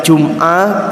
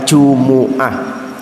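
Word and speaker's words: جمعة: Ati ada yang membacanya Jumat ada yang membacanya Jumuah tapi yang masyhur para ulama itu membacanya Jumuah gusnul jumbo Ati yang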